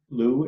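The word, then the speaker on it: Lew: His name is Lou Hollander. I think it's spelled L-E-W, Lou, and then Hollander.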